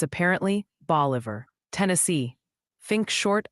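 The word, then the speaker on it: Bolivar: Also, the pronunciation Posi sends word, it's apparently boliver, Tennessee.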